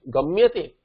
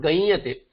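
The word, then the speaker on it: गम्यते: That uccharana should not change. Gamyate, it should remain gamyate, not gayate. If you make it anuswara, you can't make it anuswara and still pronounce it as gamyate. It cannot be done. Gayate it will become, and gayate is asadhu prayoga. It has to be gamyate.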